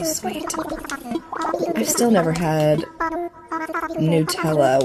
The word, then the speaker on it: Nutella: Nutella was how I was told to pronounce it, but I've always read it as Nutella.